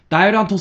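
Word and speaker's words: Dairantō: Nintendo All Star Dairanto Smash Brothers. Is how you pronounce it.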